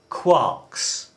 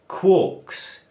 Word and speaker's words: quark: are called quarks or quarks. There's often a bit of a dispute about the uh pronunciation. Should it be quark to rhyme with bark or should it be quark to rhyme with cork?